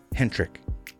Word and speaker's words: Hentrich: interview right now we are here with PD Hendrik Runnings and salutations and pronouncing here yeah actually yeah thank you it's